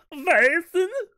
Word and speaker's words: Vaesen: The Lost Mountain, which features, I don't know how to pronounce it, Vasen? The Scandinavian horror role-playing game. How's it spelled? Vaesen. Vaesen? There we go. Thank you for that accurate pronunciation, Ben.